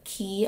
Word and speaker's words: Quay: So totally obsess totally obsessed with key Australia I think is how you pronounce it.